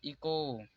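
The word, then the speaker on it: echo: Honour, इसे यहाँ पर भी ओ से पहले एच आया इसलिए एच साइलेंट होगा। यहाँ पर हो जाएगा इको।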